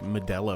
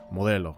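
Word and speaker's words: Modell's: He grabs I think it was like Medel or something like that which I know I know Modell I should say it correctly but he grabs like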